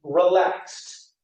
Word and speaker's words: relaxed: be guess to guest or relax with that X would then turn to relaxed or mix mixed Miss